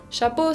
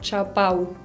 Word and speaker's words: chapeau: Chapeau significa gorro. Bueno, chapeau. No quiero escuchar chapau. Es chapeau con una O.